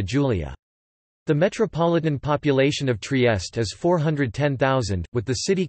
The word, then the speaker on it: Trieste: Trieste, Italian pronunciation, Trieste, listen, Slovene, TRST, is a city and a seaport in northeastern Italy.